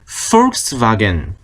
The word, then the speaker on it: Volkswagen: BMW인데 V였고, 이것도 Volkswagen이 아니라 Volkswagen. F 발음이죠. Volkswagen 발음이 달랐던 거, 그걸 참고해서 보시면 되겠습니다.